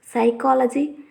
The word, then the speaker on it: psychology: me say some examples psychology, terrain, pneumatic, etc. If we see the above words, the letter P before the S, T and N at the starting of the words is silent.